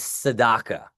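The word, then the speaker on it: tzedakah: Now the last key point that I want to talk about here um is Saddaka.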